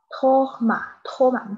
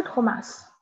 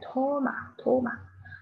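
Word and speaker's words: Thomas: 然后这个托马，不是托马斯，英语是托马斯，还是托马，这个 S 不发音啊，是好多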